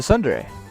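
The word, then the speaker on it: tsundere: Sun dare it's a Sunday I think it's t-s-u -n-d-e-r-e I think is how you pronounce it Sunday someone I saw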